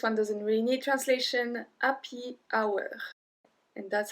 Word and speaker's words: happy hour: Happy hour. And that's how we pronounce it in French. Happy, because we don't say the H. Happy hour.